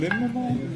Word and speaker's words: linalool: Linalool? Linalool. Oh, God. Spell it So we like to give customers kind of they could take a picture of this.